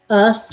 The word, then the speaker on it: ous: ous o u s and this is pronounced just like the word us us these are pronounced the same us like the two of us u s and o u s for the suffix is pronounced us as well now let me write